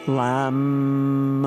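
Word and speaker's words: लं: bottoms of your feet and then lamb l l that's the one syllable Sanskrit Mantra so let's try that lamb lamb and drawing the breath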